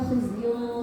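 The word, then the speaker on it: خزي: Nah, tadi ketika illa khizyun fil hayatid dunya itu kha-nya terbacanya ha. Terus kemudian di halaman 17 ada waqalatil yahudu laisatin nasara ala syai'.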